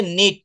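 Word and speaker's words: knit: না, এটা হবে হচ্ছে, এটার উচ্চারণটা করবেন হচ্ছে নিট। নিট মানে বোনা। কোনো কিছু মানে ওই যে আমরা জামা কাপড় বা অনেক সময় অনেক কিছু বুনি না, এটাকে নিট বলে, নিট। হ্যাঁ হ্যাঁ হ্যাঁ, সাইলেন্ট লেটার।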